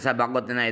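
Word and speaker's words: سبقتنا: Bacanya adalah sin di fathah, ba juga fathah, qafnya juga fathah, sabaqat. Nah, setelah qaf ada ta bertitik 2 di atasnya yang sukun.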